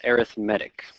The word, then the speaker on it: arithmetic: get to this word it's pronounced arithmetic all right good arithmetic